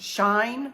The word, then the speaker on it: Shein: of you knows best I Googled it and it actually says that it's pronounced shine with Google but then on Tik Tok everybody calls it Sheen like she is in this outfit she in like that and it's definitely not apparently Sheen so I don't know